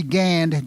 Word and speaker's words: Gand: derived today we see Gand g n d and many of the place names but it is still pronounced gan and as I said I was told don't worry about the D if you translate the